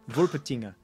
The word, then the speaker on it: Wolpertinger: That's you get the German. Wolpertinger. It's spelled exactly the way it sounds.